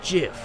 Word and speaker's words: GIF: your head like a gif it's not the truth it's pronounced GIF huh do GIF like the peanut butter the Creator said so